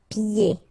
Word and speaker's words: pieds: And then when you get this combination here, it's ye. Pieds. Okay, so you don't hear the D.